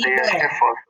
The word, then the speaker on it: ibero: Pronunciar incorretamente uma sílaba tônica da palavra como íbero ao invés de ibero.